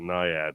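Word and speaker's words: NIAID: way they they want I worked for ni ID we called it niad which is where's the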